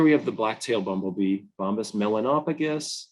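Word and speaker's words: Bombus melanopygus: So here we have the black-tailed bumblebee, Bombus Melanopagus, or some people say Melanopidges.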